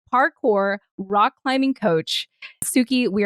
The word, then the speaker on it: parkour: She is the malevolent Tsuki, who is a cowgirl, lesbian, parkour, which rhymes with hardcore in case anyone can't pronounce it like me, parkour, rock climbing coach.